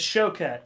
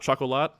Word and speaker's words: Choquette: to be pronounced dj it's show cat so that's not like it's not an s it's not chocolate no is that what t-gas